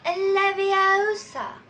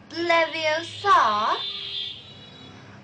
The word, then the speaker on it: Leviosa: Besides, you're saying it wrong. It's Leviosa, not Leviosa. Oh, you do then if you're so clever.